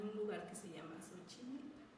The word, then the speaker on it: Xochimilco: Bueno, y en el caso de Xochimilco, que esa sería su pronunciación, Xochimilco, el maestro Manuel Tlatoa escribe: Xochimilco viene de